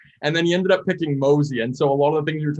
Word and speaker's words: Mosea: out and said like mosey makes perfect sense for what you guys are doing yeah yeah and everyone pronounces it mosaic yeah but it's still